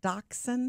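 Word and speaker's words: dachshund: mean is the dog how do you say it daxon daon yeah okay four-year-old dachon uh who makes us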